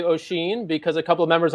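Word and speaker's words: Oisín: Thanks for correcting my awful Irish mispronunciation. Gur. Whatever. I actually was impressed that I could say Oisin, because a couple of members on our team were like, "Who is Oisin Murphy?"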